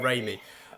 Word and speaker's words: Raimi: how do you say is it Raimi or Rami? I think it's Raimi. yeah Raimi. Sam Raimi.